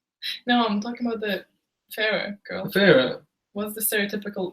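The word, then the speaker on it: Feyre: you doing what you g do by no Farah yes like that that is correct a lot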